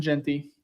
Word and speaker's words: Jeanty: I want to start with Ashton Genty. Am I saying that right? I got to be saying that right. Genty. Yeah, you've been saying it right.